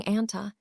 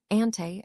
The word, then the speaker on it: Anti: Anti can be pronounced in a variety of ways, including anta, ante, and nt, depending on your preference.